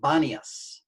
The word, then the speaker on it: Banias: original city of pon arabic speakers can't pronounce p so they pronounce b so it became banias and uh and uh